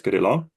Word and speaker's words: Kirill: My Ukrainian name is Kirill.